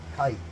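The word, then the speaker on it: Kight: I always want to say Knight because of the way it's spelled, y'all. It's K-I-G-H-T. It's not K-I-T-E, so it makes me want to say Knight because I'm looking for that N.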